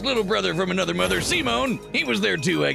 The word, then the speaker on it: Simon: Yep, pronounced Simone, of course, is a mangaka.